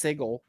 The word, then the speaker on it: Sigil: It's called Plscape Torment and it's set all in Sigil and it's phenomenal. Cool. Yeah. So, fun fact actually pronounced Sigle.